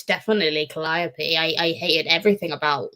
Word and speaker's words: Calliope: clytemnestra uh calliope um well she says in the audiobook calliope which i always thought it was callipe um and i said